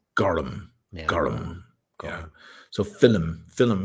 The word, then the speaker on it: gorm: Celtic languages have so the Irish word for blue is g o RM gorm but it's pronounced gum gum yeah so film